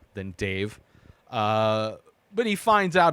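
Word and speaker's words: Dev: part two is is Dave and it's d-e-v pronounced by everybody in this movie Dave doesn't sound like this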